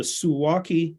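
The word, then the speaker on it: Suwałki: Poland it's called The suwaki Gap and think of it like yeah think of it like walkie-talkie it's spelled the same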